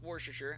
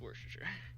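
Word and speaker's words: Worcester: and and all that I don't know why it's pronounced warer I just know it is pronounced warer I would imagine it's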